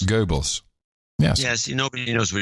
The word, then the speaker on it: Goebbels: get a real accurate print that's the accurate pronunciation Goebbels Goebbels Goebbels yes yes nobody knows were you talking about